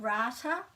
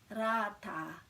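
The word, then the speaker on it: rātā: little bit trickier so it's not rata it's rata and the t you might have seen me talk about this before we've got the possibilities for the pronunciation of the letter t depend on what vowel is after it so when it's an e or as it in this case then it's a flatter sound like so this is and not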